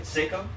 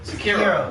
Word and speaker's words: Sekiro: Seiko? Seiko? Oh yeah. How do you say it? I don't know how you say it. Sekiro? Sekiro.